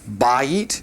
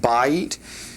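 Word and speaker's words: בית: Um number seven there uh is the word for house and uh it also would take a masculine bay is how you'd pronounce that bay and uh that also is an exception.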